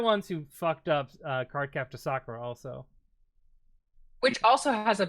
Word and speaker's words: Sakura: bit of the dub, and they do not pronounce Sakura right at all. Not a single one. Sakura. Her name is Sakura, Sakura.